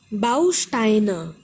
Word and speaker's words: Bausteine: Bausteine, Bausteine. There are three syllables, stress is on Bau, Bausteine.